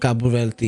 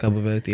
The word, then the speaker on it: Cabo Verde: Verde. Cabo Verde. That's how you say it. Cabo Verde.